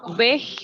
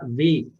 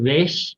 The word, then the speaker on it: Weg: Y diga Weg. Esa G se pronuncia como una G antes de una A o una U en español. No es Weg, sino Weg. Weg. No es tan duro como la K, ¿sí?